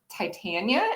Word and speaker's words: Titania: for fairies and, well, I guess Titania is how the name is traditionally pronounced, but I pronounce mine Titania with a very science background.